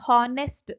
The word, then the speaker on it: honest: so here the option honest is a wrong pronunciation here though it starts with H the pronunciation is always honest a sound this is